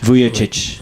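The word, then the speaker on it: Vujačić: Vujacic. Vujicic.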